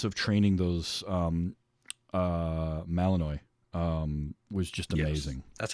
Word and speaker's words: Malinois: like three months of training those um uh Malinois um was just amazing that's how it's pronounced okay I was wondering and those dogs